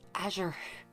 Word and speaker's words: Azure: It's pronounced Azure.